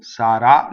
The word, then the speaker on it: sarà: Sarà. Accent on the last syllable. Sarà. Notice the flipped R.